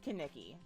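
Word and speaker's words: Kenickie: Kaneki or Nikki, it's definitely pronounced Kaneki.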